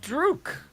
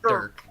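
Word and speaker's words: Dhurke: Oh, Drook. Drew. What are you up to this time? Dirk! Dirk. Dirk! Dirk. Just say Dirk.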